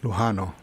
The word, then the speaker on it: Lujano: How do you say your last name? Lujano. Lujano. Okay. All right. If you want to be more... Have I been pronouncing it wrong? Lujano? Yeah. Actually, if you want to be more specific, it's actually Lujano. Okay. Lujano.